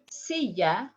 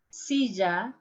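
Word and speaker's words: silla: my pronunciation pronunciation so let me pronounce the three different ways see ya sisa sisha next one here we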